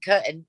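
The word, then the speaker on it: Corton: to see my job sounds like curtin c c-o-r-t-o-n carton in suffolk coming to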